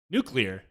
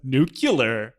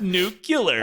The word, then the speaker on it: nuclear: I'm not going to fix it now. Nuclear. What's wrong with that? Whereas I don't know. As Homer Simpson says, nuclear. It's pronounced nuclear. I don't see the issue.